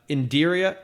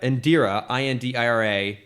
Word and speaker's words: Indira Varma: So it's Indira, Indira, Varma, Varma.